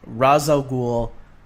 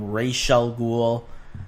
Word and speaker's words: Ra's al Ghul: his name you know Batman Begins called him Ra's al Ghul then you have Batman the Animated Series calling him Rachele Ghul then you have arrow calling